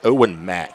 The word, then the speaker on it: Owen Mack: And I may have been saying that kicker's name wrong. It's Owen Mack.